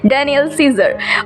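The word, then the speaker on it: Daniel Caesar: पहले मैं काइजर बोल रही थी क्या गाइज, बहुत सारे प्रोनाउंसिएशन पे ना मत जाना, मुझे नहीं पता होता कि क्या प्रोनाउंसिएशन एक्यूरेट होता है, तो मैंने ऐसे ही बोला था. इसका प्रोनाउंस है डैनियल सीजर.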